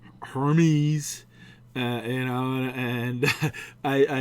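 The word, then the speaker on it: Hermès: address that look i screwed up i said hermes uh you know and i i jokingly said to the person well it's better than having saying herpes you know so it's hermes i know so thanks for the people that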